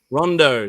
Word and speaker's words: Rondeau: right so ricondo rondo run run how do i pronounce the last name again rondo was fine rondo so yeah right rondo's